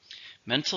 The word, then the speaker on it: mental: Mental means related to the mind. It's an adjective. How many syllables? Mental. 2. Stresses on the first.